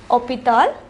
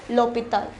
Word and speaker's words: hôpital: However, it begins with a H, which is silent. We already learned what is called the H mute. Since it is pronounced hôpital, we place L apostrophe.